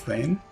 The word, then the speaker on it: Thane: this a fight against Thane no the pain rhymes with vain foreign this is